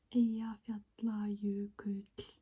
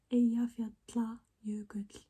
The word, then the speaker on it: Eyjafjallajökull: It's Eyjafjallajökull. Eyjafjallajökull. This word is very hard to pronounce, and when the eruption happened in 2010,